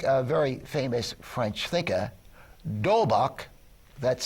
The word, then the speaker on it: D'Holbach: Well, for me, I think a very famous French thinker, D'Holbach, that's spelled capital D''Holbach, D'Holbach, I think, provides the best guidelines I know of to determine what is moral and what is not.